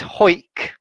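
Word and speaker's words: Hawick: offem the third is anik so the l is silent the next one is hoik which is in the scottish border uh the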